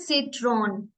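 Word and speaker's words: Zitrone: And last Z, seat, seat, इसमें एस की sound आती है। ठीक है, जैसे सिट्रॉन, सिट्रॉन मीन्स लेमन।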